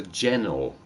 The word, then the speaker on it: ginnel: Snicket ginnel is a narrow passage. You see, I've heard of a ginnel, though I've heard it pronounced as a gennel.